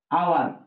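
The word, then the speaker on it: hour: যেমন দেখেন যদি বলি আওয়ার, আপনি এইচটা বাদ দেন, ও ইউ আর, আওয়ারই হয়, এইচ আছে ঠিকই কিন্তু উচ্চারণ হচ্ছে না।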